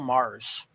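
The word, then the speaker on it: Magrs: Oh, actually, I think Nick Briggs pronounces his name as Paul Mars.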